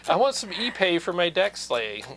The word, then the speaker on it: Ipe: Well, there's a wood called Ipe, and it's spelled IPE, and I always thought it was Ipe, Oh, but it's Ipe. Ipe? Yeah, it's like pig Latin.